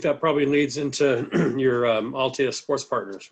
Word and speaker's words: Altea: So I think that probably leads into your Altea Sports Partners, right? Am I saying that right?